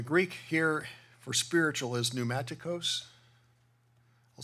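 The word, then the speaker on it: πνευματικός: there uh the Greek here for Spiritual is pneumaticos I'll spell it for you P NE m a t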